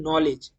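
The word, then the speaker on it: knowledge: যেরকম আপনারা উদাহরণ দেখতে পাচ্ছেন নলেজ একটা ইংরেজি শব্দ। সেই নলেজের আমরা ন উচ্চারণ করছি। কিন্তু এখানে কে উচ্চারণ হচ্ছে না। তো এখানে কে হয়ে গেল একটা সাইলেন্ট লেটার।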